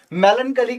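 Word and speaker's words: melancholy: वैसे इसका प्रोनाउंसिएशन जो है वो है कली, मेलन कली, मेलन कली, ठीक है। पढ़ने के लिए क्या पढ़ोगे? मेलन चोली, तो मैली हो गई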